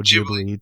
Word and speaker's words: Ghibli: I guess it's Studio Ghibli, technically, how it's pronounced.